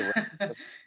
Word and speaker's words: Rachlis: Like it should probably be Rachlis, but we say Rachlis.